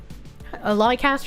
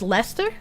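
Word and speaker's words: Leicester: Liecaster is pronounced Lester. Love from Lester. Is it? I guess that makes sense. If Worcester is pronounced Worcester, then lie liaster. It would be Lester.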